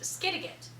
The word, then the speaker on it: Skidegate: It's pronounced Skidegate.